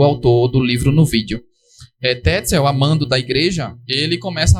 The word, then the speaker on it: Tetzel: Essa pronúncia também é do autor do livro no vídeo. Tetzel, amando da igreja, ele começa a vender o que se chama de indulgências.